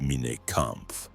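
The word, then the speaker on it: Mein Kampf: By 1925, his manifesto mine comp pronounced Mina Kamp appeared in bookstores.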